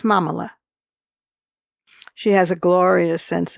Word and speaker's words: Mamala: She's a stellar lawyer, and she's married to another stellar lawyer, Doug Elmhoff, and he's Jewish, and her nickname, rhyming with Kamala, is Mamala.